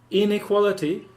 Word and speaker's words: inequality: So, inequality, normally, is equality, but when you have inequality, you put the emphasis on the in the word stress, so that people can